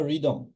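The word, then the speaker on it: rhythm: কি বলি রাইম বা রিদম রিদম রাইম এখানে আমরা হ টা কিন্তু উচ্চারিত হচ্ছে না সো আর এর পরে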